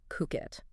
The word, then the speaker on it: Phuket: The place is pronounced Phuket.